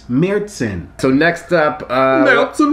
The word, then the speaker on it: Märzen: been saying it wrong it's not mars inn it's mertzen so next up uh